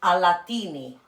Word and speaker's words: Alatini: There's also another brand called, which might be easier for you guys, Alatini. So think of, I don't know, Aladdin, but with a T and an I at the end.